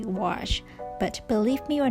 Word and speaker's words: gouache: But by learning from others, now I know how to say gouache.